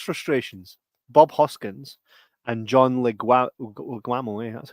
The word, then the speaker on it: Leguizamo: Bob Hoskins and John Leguizamo, that's how you say it.